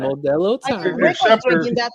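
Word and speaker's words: Modelo: You gota say it right. Modello that I can.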